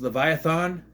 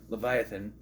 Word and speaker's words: Leviathan: out was called the Leviathan he what she pronounced leviathon Leviathan and it it hits him because as we